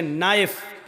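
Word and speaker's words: knife: शाहीन बोला नहीं जाएगा जैसे इंग्लिश में नाइफ इसको कहते चाकू को नायक माना चाकुओं लेकिन के लिखा जाता है बोला नहीं जाता वह साइलेंट रहता है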